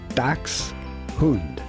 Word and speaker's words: Dachshund: In German this would normally be pronounced Dachs, which means badger, and Hund, which means dog. Dachs, Hund. Dachshund.